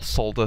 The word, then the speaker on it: solder: hot and it became made the soda or solder depending how you wish to pronounce it off the board to